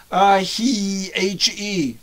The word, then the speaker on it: He: Now get it right. It's He, helium. Pronounce it. He.